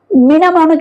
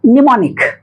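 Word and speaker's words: mnemonic: है है ना तो इसको मना मोनिक नहीं बोलते हैं बल्कि क्या बोलते हैं निमोनिक स्मृति सहायक जिसको बोलते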